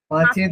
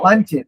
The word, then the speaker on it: পাঞ্চেত: পাঞ্চেত, পাঞ্চেত, PANCHET, পাঞ্চেত। এবার উচ্চারণ করবে যা পাঞ্চেত বা পাঁচের একই ব্যাপার, পাঞ্চেত বা পাঁচেত। হ্যাঁ ঠিক আছে, অসুবিধা নেই।